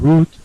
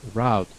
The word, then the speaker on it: route: Remember this, there are 2 pronunciations. You can pronounce this word route or route. Route is the British, route is the American pronunciation.